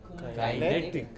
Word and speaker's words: kinetic: Kinetic.